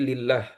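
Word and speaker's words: لله: Ah, ini ee kalau misalnya ini kan lafaz Allah ya, tapi enggak ada alifnya di depan, maka bacanya bukan Allah tapi lillah.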